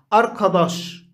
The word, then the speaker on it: أركضاش: أركضاش، هنا عندنا الـ آ آ أركضاش أركضاش، نرى أن الكاء لأن الذي جاء بعدها هو حرف مفخم آ، لذلك تلفظ قاف، والدال تلفظ ضاد لأن الذي بعدها مفخم.